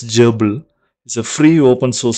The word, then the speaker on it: GRBL: going to check this grbl pronounced as jble is a free open-